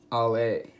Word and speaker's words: Aller: So what we'll be talking about today is the Benchmade Ale. I say Ale even though it's spelled Aller in our kind of in English language.